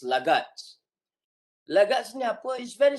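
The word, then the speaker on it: laggards: Yang last ni The pronunciation is lagats.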